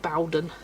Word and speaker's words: Bowden: Yeah, it's called Bowden. He's called Bowden, sorry. And it is pronounced that way because they did a little, it's bow as in row, not bow as in low.